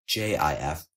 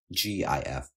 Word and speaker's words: GIF: read in all caps it's pronounced J if not g if here J if refers to the soft G pronunciation following the speech will